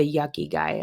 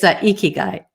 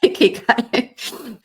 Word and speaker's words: ikigai: Because I know I'm Yuck. saying it wrong, but that's how I heard it. The yucky guy. That's a good one. I should. It's Ikigai. Oh, icky guy. Yeah, Ikigai.